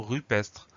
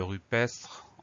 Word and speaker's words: rupestre: Donc ce mot rupestre, il s'écrit à peu près comme il se prononce. Pour obtenir le son E de rupestre, on ne met pas d'accent du tout sur le E, tout simplement parce que derrière ce E, nous avons deux consonnes qui se suivent, même